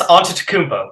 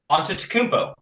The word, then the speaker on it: Antetokounmpo: Giannis Antetokounmpo. It's not that hard to pronounce.